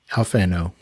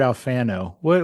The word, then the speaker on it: Alfano: I say Alfano because I'm a New Yorker more than an Italian, but apparently our people went to Italy and we've been saying our name wrong. It should be like Alfano, right? Like Alfano would be how an Italian would say it.